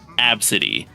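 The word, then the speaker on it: Abcde: name was spelled AB bcde e and it's pronounced absity what the hell is that you're just asking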